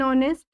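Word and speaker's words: honest: जाते हैं इसमें ऑनेस्ट प आते हैं एन ऑनेस्ट अब यहां पर जो ऑनेस्ट के पहले टीच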